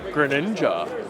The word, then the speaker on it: Greninja: Say it with me. Greninja. That's how they say it in Super Smash Brothers.